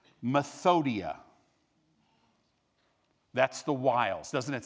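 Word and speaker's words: μεθοδεία: The Greek word, let me make sure I say it right, methodia.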